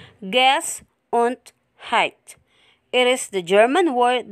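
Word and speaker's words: Gesundheit: there is a funny looking word which is pronounced gas and height it is the german word that wishes someone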